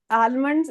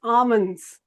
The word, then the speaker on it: almonds: It's not almonds. It's almonds. Almonds. Okay. L is silent here.